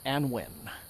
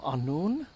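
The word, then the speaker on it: Annwn: When I was younger, I always called it Prince of Anwin, but I know that like in Welsh, that W would be like a long U sound. So, I think it's Prince of Anun, but maybe like some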